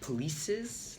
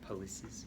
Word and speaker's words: policies: the word policies uh you kind of mentioned it like polies like sounded kind of like police polies uh be sure to really like emphasize the the uh policies like break it up polies instead of policies policies policies um let's see